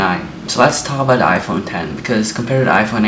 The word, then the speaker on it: iPhone X: Cook said that the iPhone 10 was the biggest leap forward since the original iPhone it's not just pronounced iPhone X by the way it's pronounced iPhone 10 because Romania the screen